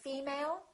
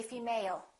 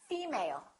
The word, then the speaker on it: female: one did you say female or did you say female once again it's the first one female let's look at the